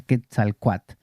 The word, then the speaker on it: Quetzalcóatl: Por lo menos en México me explicaron que la L final, aunque suena muy bonito, no se pronuncia. Quetzalcóatl.